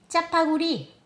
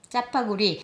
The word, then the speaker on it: 짜파구리: "짜파" 그리고 너구리로부터 "구리"를 합해 짜파구리 저 따라 발음해보세요, 짜파구리, 짜파구리!